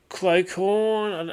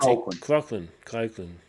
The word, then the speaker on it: Colquhoun: Jesse Clocorn, how do you pronounce his name? Colquhoun. That's Colquhoun.